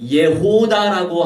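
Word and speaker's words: 예후다: 이 유다라고 하는 게 예호다라고 하는 발음인데 이게 바로 유명한의 의미가 바로 유다예요.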